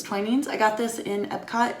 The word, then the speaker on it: Twinings: also got twain's tea which i've been pronouncing twinnings my whole life and the lady at the store said it was twinings i got this in